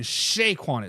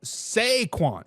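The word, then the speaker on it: Saquon: shaquon Barkley people in people on the YouTube says I was saying it wrong I was saying Shaquan is sequan sequan Barkley is the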